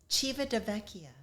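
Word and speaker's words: Civitavecchia: we were even joking around about how to pronounce the port city. Um, Chiva Debecia.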